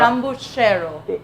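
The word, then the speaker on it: Zambujeiro: But to the Portuguese, it's called the jambuchero. Yeah, Correct? sambucheiro.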